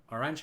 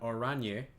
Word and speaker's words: Oranje: Orange is pronounced Oranje.